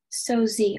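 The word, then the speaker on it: sosie: French from a French fictional name from Latin so Z are there any alternates no just so Z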